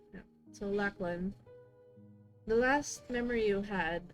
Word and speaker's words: Lachlan: Lachlan, is that correct? Yeah. Pronouncing? Yeah. So Lachlan, the last memory you had of him was